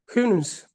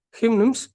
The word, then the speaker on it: Houyhnhnms: அண்ட் அந்த ஐலாண்டுக்கு name என்ன அப்படின்னா ஹிம்னிம்ஸ், right? ஹிம்னிம்ஸ். அண்ட் எஸ், pronounced Houyhnhnms are the race of noble horses who live accordingly to the laws of reason and nature.